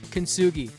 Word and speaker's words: Kintsugi: Enter Kintsugi. Pronounced kintsugi, named after the Japanese art of turning broken pottery into something beautiful and resilient.